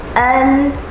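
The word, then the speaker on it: ㄣ: For English speakers, you might think it's the same sound as the letter N, but it's not. Think of a combination of the sound in cut and the sound of N.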